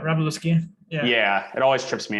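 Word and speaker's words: Wroblewski: you know the pronunciation luke how do you pronounce his last name right robleski yeah it always trips me up but he's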